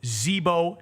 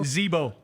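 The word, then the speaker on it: Zibo: I I just looked at the pronunciation guy. He is from Zebo, China. There you go. Zebo.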